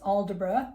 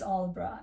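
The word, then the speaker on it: Aldeburgh: It looks like it's pronounced Aldebra, but it is Aldborough.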